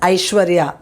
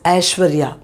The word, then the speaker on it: Aishwarya: sounds now this one you might say it is aishwarya no it's ashwarya okay ashwarya you would have heard the beauty queen aishwarya rai okay so this is ashwarya okay not i sh